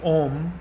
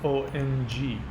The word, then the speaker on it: Om: written as ohm but it's actually pronounced Ong even a lot of data kin dues don't know that the little dot when you see the the own character in Sanskrit the dot is the ng sound the ng sound when